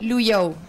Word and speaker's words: Luyou: Entonces se pronuncia VIP luyou y Qué es luyou o sea básicamente se lee como se escribe en chino mandarín significa viajar Vale entonces